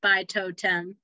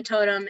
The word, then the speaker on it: Totem: A lot of people mispronounce it. It's Totem. Okay, I like it. So the world Totem is full of creatures called Bloods who are half animal, half human shapeshifters.